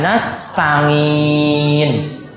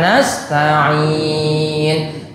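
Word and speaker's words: نستعين: Itu perlu diperhatikan, ain itu dibaca ain. Ya, kalau yang dulu pas ngulang Iqra atau diulang Iqra itu bacanya nga, mangke diganti. Biasanya pas baca iyyaka na'budu wa iyyaka nasta'in, nginnya itu dia baca. Harusnya wa iyyaka nasta'in, kan masih pakai nga.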